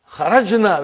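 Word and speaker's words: خرج: Kharajna. Where is the verb? Say it properly. Kharaj. With sukun. You won't say with? You will say kharaj.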